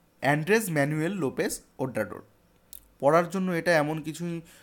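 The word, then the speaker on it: Andrés Manuel López Obrador: তো এটার উচ্চারণ হবে অ্যান্ড্রেস ম্যানুয়েল লোপেস ওব্রাডোর, অ্যান্ড্রেস ম্যানুয়েল লোপেস ওব্রাডোর।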